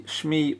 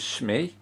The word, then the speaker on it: Shmee: on the other side so it's sort of pronounces schmee turns car around to